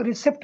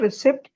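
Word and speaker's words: receipt: जो रिसीट होती है इसको लोग रिसीप्ट बोलते हैं। इट इज़ नॉट रिसीप्ट। इट इज़ रिसीप्ट। ठीक है? इसकी राइट प्रोनाउंसिएशन। करेक्ट प्रोनाउंसिएशन है। रिसीप्ट। रिसीप्ट नहीं। Okay? Next one is okay. So this is not coupon. It इज कूपॉन। जो कूपन होते हैं उसको हम लोग कूपन कहते हैं। कूपन नहीं होता। इट इज़ कूपॉन।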